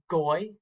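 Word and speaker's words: גוי: When that is followed by the letter yod, it's pronounced oi, as in boil. So looking at these words up here, we have goy, goyim, hoy, oyev, oyeve, and avoy.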